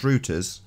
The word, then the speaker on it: Reuters: I think it's Reuters pronounced here, but I think the Americans pronounce it Reuters.